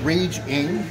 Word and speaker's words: Rage Ng: my name's rage r-a-g-e last name is spelled ng i'm raging uh just search rage ing on youtube and please